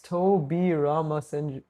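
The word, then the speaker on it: Tobirama: It's Toby Rama. Yeah, I pronounced it correctly.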